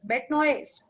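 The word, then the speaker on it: bête noire: चलो ये बताओ, बेटनॉय, बेटनॉय प्रोनाउंसिएशन इज बेटनॉय।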